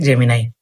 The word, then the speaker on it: Gemini: এটা অনেকেই জেমিনা উচ্চারণ করে। জেমিনি উচ্চারণ করে এটাই সঠিক উচ্চারণ হবে জেমি নাই।